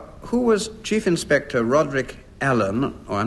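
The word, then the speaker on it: Alleyn: nice for him who was Chief Inspector Roderick Allen or I'm not certain what he isn't called Elaine because it's spelled a-w-l-e-y-n he's the detective in a novel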